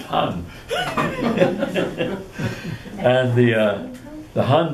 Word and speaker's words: Han: was replaced by the Han Dynasty actually pronounced Han and the uh the